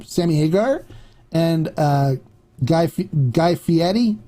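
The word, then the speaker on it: Guy Fieri: by the way way when you talk about guy it's guy fiti he throws a fit when people say Fier so it is fiti uh but that's the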